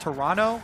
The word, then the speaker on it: Toronto: by a tweet it's pronounced Toronto with no uh no T oh yeah today I learned Toronto maybe someone else you're